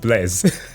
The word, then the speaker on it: Blaise: The French mathematician, also a philosopher, who invented the first calculator, but it's pronounced Blaise.